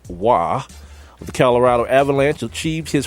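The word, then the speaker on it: Roy: know all about hockey I know his name is pronounced why the Colorado Avalanche achieved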